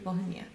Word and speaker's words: Volhynia: Volhynia.